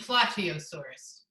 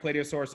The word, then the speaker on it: Plateosaurus: do saurus plio saurus you mean Plateosaurus you're gonna fact-check my pronunciations I've never heard plot EO but maybe play do play do source what are your thoughts yes yes Dino yes final answer yes that is correct play do source is a dinosaur you're